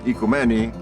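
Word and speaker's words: οικουμένη: The word ecumenism comes from the Greek word oikoumeni, as it's pronounced in modern Greek, which means household.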